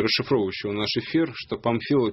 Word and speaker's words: Памфилова: Я здесь обращаю внимание вычитывающего и расшифровывающего наш эфир, что Памфилова пишется через букву М. А ты всегда говоришь Панфилова.